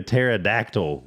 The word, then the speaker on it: pterodactyl: can't you hear a pterodactyl go to the bathroom what's that because the p is silent well English all